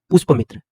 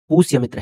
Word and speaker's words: पुष्यमित्र: अब भाषा वैज्ञानिक जी का उच्चारण दोष देख लीजिए, पुष्पमित्र, जबकि कहीं भी पुष्पमित्र नहीं लिखा हुआ है, पुष्यमित्र है, न कि पुष्पमित्र है। अब पुष्यमित्र को पुष्पमित्र बोल रहे हैं और ऊपर से कहते